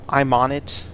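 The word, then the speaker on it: Aymonit: is called I'm a I'm on it it sounds like the words I'm on it but it's a ym o NIT and that's your high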